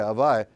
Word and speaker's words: Avaya: How do you pronounce it? Avaya. Well, yeah, Avaya.